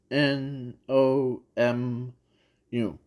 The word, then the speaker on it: Nomu: and in the process not MooMoo but the no moons no moo M or no n o m o or n o m u yeah I'm trying to spell it out so yeah so the